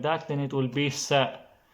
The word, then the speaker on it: ث: Sa is almost same like C in English, but not totally. It's more like sa. In Arabic, classic Arabic, they will say sa, sa. In Egyptian, they will say se, se, se, se, se.